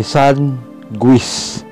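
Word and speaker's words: sanguis: GU ay magiging wi. Halimbawa, san guis. Ito ay san guis.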